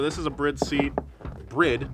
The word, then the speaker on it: Bride: Brid, not Bride, I know it's spelled that way.